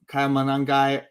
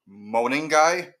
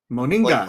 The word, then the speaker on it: Monangai: Juwan Johnson, Evan Ingram, Bill Krosky Merritt, or Kyle Monangai or Kenneth Walker the Ninth. Well, it's actually pronounced I just found out this week it's pronounced Moningai. Moningai. Like a moaning guy.